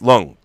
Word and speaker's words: Leung: And of course, Zephyr Chan taught me that it's not Leung, it's Lung, Tony Lung. And she was like, why do you pronounce it with like 2 syllables?